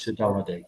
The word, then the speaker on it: saudade: So do I pronounce this right? Saudade?